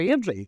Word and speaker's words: Airdrie: You don't pronounce T's in Airdrie.